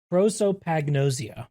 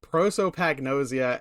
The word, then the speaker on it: prosopagnosia: is uh sorry I have it right here prosopagnosia prosopagnosia and I in my brain